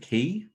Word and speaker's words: Quay: I mean, because I would pronounce it key, but I don't know if that's just a pronunciation difference between how us colonials speak versus how you Americans speak.